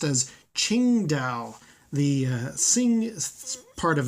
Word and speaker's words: Qingdao: Harrison Ford is saying it's not Tsingtao it's Qingdao but anyway we're not